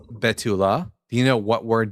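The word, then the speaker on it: בתולה: Betula. Betula. You see it right here. It's spelled bav vav lame.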